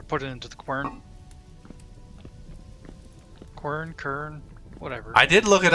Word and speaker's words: quern: it into the quern, kern, whatever. I did look it up. I googled it. I googled how to Quern. pronounce, and it's quern, Kwur, quern, and then the British pronunciation is even stranger.